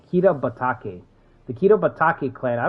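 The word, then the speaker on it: Kitabatake: Kita. See, I said Kido. Kita Batake.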